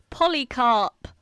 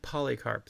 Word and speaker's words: Polycarp: Polycarp though. Okay. So, is it spelled like it's spelled? Yeah, it's spelled like it sounds like poly as in polyamorous carp as in the fish.